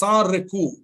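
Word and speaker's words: sans recours: called a sariku again a French word sa means without Riku as pronounced in French recourse in English sariku means without recourse you pronounce it recourse but in French you pronounce it Riku so sariku means without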